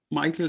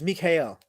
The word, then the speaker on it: Michael: And I also think it's not Michael, it's Michael. Pronounced like the German name. Okay, so it's Mikhail.